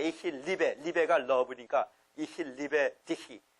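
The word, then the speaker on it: Ich liebe dich: 리베가 러브니까 이히 리베 디히. 디히. 이 히만 발음 나야 돼.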